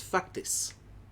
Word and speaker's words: faktis: So the word is faktis. Faktis. Fuck it. And if that sounds like fuck this, that's pretty damn true.